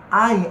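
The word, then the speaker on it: עין: Ein, a semelhança do Aleph, ele também é pronunciável e é uma gutural. Eu digo impronunciável porque ele é accent, ele é silencioso, você quase não o percebe saindo da garganta.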